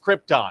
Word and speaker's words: Krypton: It's pronounced Krypton.